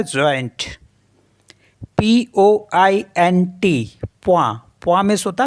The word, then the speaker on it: point: POINT, प्वा।